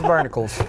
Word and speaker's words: Barnacules: is AKA barnacules nobody ever pronounced it right Barnacles think Barnacle Hercules Barnacles is this Hercules is barnicles and we have Jay